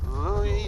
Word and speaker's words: Lewis: Louis Jordan is up next. It's spelled Lewis, but don't be fooled.